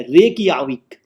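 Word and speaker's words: Reykjavík: रेकियाविक, REY, रेकियाविक, spelling बड़ी confuse है, रेकियाविक।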